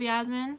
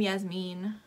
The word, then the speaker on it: Yasmin: couple of pictures of yasmin i keep wanting to pronounce her name yasmine i don't know why but i do you always had like